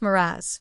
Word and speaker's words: mirage: "Mirage is pronounced Miraz," said Valancy shortly, picking up her tea and her beans.